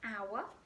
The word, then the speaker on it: hour: spelt with an H begins with the letter H but within the word our is actually a sign of age okay so it wouldn't be a our even though it's spelled with an age it would be an because the word begins with a vowel sound okay so now you